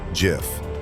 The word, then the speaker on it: GIF: It's pronounced GIF. Steve Wilhight, the creator of the graphics interchange format, declared it as GIF in his 2013 webbby award speech, intentionally echoing the peanut butter brand.